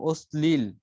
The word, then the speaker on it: অশ্লীল: তখন এর উচ্চারণ হবে এস এর মতো, যেমন অশ্লীল, গুড গুড স্তম্ভিত, গুড গুড, হ্যাঁ ঠিক, স্থানীয়।